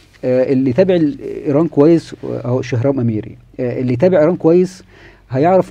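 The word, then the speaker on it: شهرام امیری: شخص أو عالم اسمه شهرام عميري أو شهرام أميري، لأن العين بتنطق في اللغة الفارسية ألف. شهرام عميري كان عالم صواريخ وعالم نووي وكلام من هذا القبيل.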